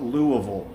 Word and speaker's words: Louisville: to say that oh if you live here you call it louisville so lu uh vol it's like l-o-u-u-h-v-u-l-l is how how it sounds louisville uh the thing